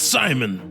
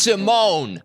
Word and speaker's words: Simon: that's Simon. It's pronounced Simone.